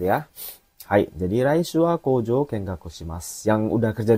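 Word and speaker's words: 工場: Ya, ini nomor 3 ini bacanya kojo.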